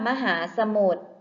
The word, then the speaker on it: มหาสมุทร: ค่ะ ข้อ ที่ 3 คำ ว่า มหาสมุทร พยัญชนะ ตัว ใด ที่ ไม่ ออก เสียง คะ ใช่ แล้ว ค่ะ พยัญชนะ ที่ ไม่ ออก เสียง คือ ร เรือ ค่ะ และ คำ